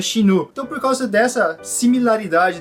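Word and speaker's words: 死ぬ: Há uma conotação entre a pronúncia do número quatro, uma delas é xi, e a palavra morte, que se pronuncia xinu.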